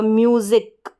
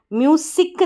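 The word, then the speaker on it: music: यू बनकर आ जाएगा, म्यूजिक, म्यूजिक। म्यूसिक नहीं पढ़ेंगे, ज करके, ये जो एस है ना इसका साउंड, इसका उच्चारण ज कर गया।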